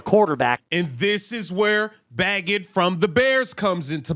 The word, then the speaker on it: Bagent: I've been saying his name wrong. Bagent.